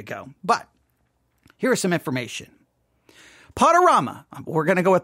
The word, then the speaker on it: Podurama: See, now someone said you think the Rama part is play on drama, right? Rama, drama, since it's podcasting, which would mean pronounce like that. Just throwing out a guess. I agree with that person. Someone in chat is already saying that. That's how I saw it. Rama, drama, podorama. That's Rama.